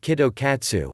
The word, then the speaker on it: Kit Kat: tea grape and wasabi the Japanese pronounce Kit Kat like Kido katsu which sounds like you are sure to pass in Japanese and so they make